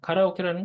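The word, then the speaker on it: カラオケ: 기억을 하실 수 있습니다 정확히는 카라오 케긴 합니다 일본어로는 카라라고 해서 텅텅 배 있다는 뜻인데 그건 또 나중에 나오면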